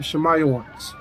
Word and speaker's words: Simeon: And Simeon, who we call the Dominicans today, who are also scattered, you will say their name Shemayawans. Not my name, but it sounds similar, Shemayawans.